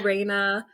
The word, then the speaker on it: Raina: as far exactly yeah so Raina um if you know Spanish it kind of sounds like the word queen in Spanish right and then also across